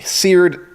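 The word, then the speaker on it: sered: Okay, seared, scorched. Scorched? Yes, although it's spelled S-E-R-E-D. Seared.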